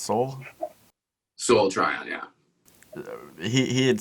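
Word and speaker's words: Sol: I heard in an interview with the director, and his name is pronounced Soul.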